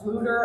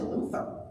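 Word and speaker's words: Fflewddur: about Welsh so like there's a character whose name has two fs and two L's and two D's and I thought was pronounced flutter and here going by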